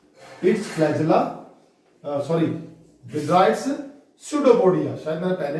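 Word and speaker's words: pseudopodia: पोडिया mean foot, पैर इसका, तो ये है इसका पैर, ये है स्यूडोपोडिया, PSEUDO, स्यूडोपोडिया। P is silent here, स्यूडोपोडिया।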